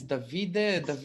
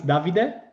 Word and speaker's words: Davide: which is david okay in italian it's davide with the accent from the first uh i guess yeah yeah okay the first uh vowel but uh yeah anyway